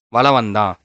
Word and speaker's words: வலம் வந்தான்: வலம் வந்தான். அந்த இம்முங்கிறத நம்ம சொல்லவே மாட்டோம். அவ்வளவா உச்சரிக்கவே மாட்டோம். வலம் வந்தான். லைட்டா தான் சொல்லுவோம்.